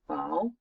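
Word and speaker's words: 宝: This word, we say bao, we pronounce bao, it means treasure.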